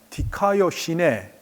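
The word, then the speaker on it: δικαιοσύνη: 그것을 명사로 바꾸면 디카이오시네 이렇게 발음하게 되는데, 이 명사는 우리가 공의 혹은 정의로 번역될 수 있는 말입니다.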